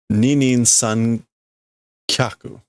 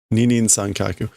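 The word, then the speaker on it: 二人三脚: Oh, I guess Ninin san kyaku. Ninin san kyaku. One of the rare cases where you don't pronounce this futari.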